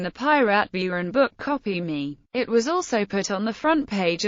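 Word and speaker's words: Kopimi: Bean co-founder ibraim batana the logo pronounced copy me can be used to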